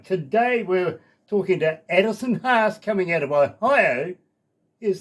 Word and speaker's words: Haas: Okay, it is Haas, not Has.